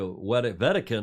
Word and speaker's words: Wedekind: Julia Wedekind, we pronounce it in the German with a W.